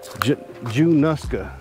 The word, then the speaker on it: Junaluska: could not descendants of people from this town Jew nuska is how they pronounce it so anybody from januska you have